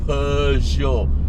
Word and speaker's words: Peugeot: Okay, I just learned how to pronounce Peugeot. Okay, Peugeot.